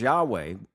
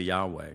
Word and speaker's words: Yahweh: And you heard me say Yahweh. You know, you say, "What about that?" Well, you'll often hear Yahweh, and that's widely accepted by scholars as the most likely ancient pronunciation.